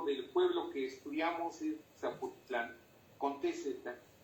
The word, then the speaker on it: Zapotitlán: Pero la última sílaba sigue sin acentuarse. Esto es Zapotitlán, no Zapotitlán.